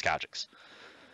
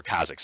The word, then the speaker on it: Kha'Zix: And even though, yeah, he's really strong, he's an extra item up, you can still execute him as Kha'Jix. So, or Kha'Zix, I'm sorry, you pronounce it differently.